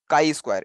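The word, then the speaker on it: chi-square: the very first thing it is showing is chi Square it is it is pronoun pronounced as Chi Square Chi means Chi Square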